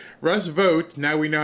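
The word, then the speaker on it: Russ Vought: So if you heard almost I think the last question or maybe second to last question where she actually said Russ vote now we know how to say his name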